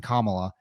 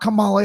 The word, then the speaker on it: Kamala: crush Ron for mispronouncing Kamala you know he said you know it's not Kamala it's Kamala and you should be